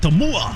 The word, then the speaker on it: Tumua: Tumua.